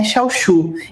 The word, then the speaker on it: Xiaoshu: Meu nome é Xauchu e é meu nome de família. Agora, outro britânico, outro método de pronúncia brasileiro.